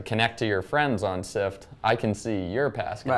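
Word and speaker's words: Syft: So my favorite company right now, a company called Sift, run by Eben Pingree. That's with a Y. Yes, S-Y-F-T. Rhymes with lift, spelled like lift.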